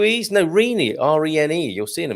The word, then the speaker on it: Rene: Yes, then you should emphasize the last 2 E's. If there was an accent on the first of the double E's, the emphasis is still on the last E's.